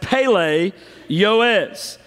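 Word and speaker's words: פֶּלֶא יוֹעֵץ: of the Hebrew language so we're going to pronounce it as Pele yoes now Pele is the word for wonderful it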